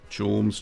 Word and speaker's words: Chaumes: Chorms cheese.